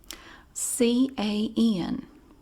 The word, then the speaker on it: can: It's a two-syllable word now. Can. And you can make it even longer if you're trying to emphasize something. Somebody says, "You can't do that." "Oh, yes, I can." You stretch it out. Can. Can. Cans. It's almost like C-A-Y-U-N.